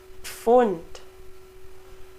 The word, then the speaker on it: Pfund: We also pronounce the P and the F. Pf, Pfennig, Pferd, Pflaume, Pfund.